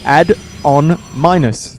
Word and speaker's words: Adominus: for a few minutes it's add on minus like you know mathematics add on minus yeah yeah that might